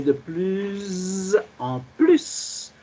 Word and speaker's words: de plus en plus: Pas de plus en plus, mais de plus en plus. Alors, le premier S de PLUS est prononcé Z, mais dans le deuxième